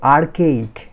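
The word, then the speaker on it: archaic: আছে এখানে যেটা হবে আর্কেইক, এই উচ্চারণটা আর কে ইক, এই এটা এটা চলে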